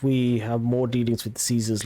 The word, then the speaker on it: Caesar: have more dealings with caesar's legion or kaiser's legion as it's pronounced in this game um sure we'll see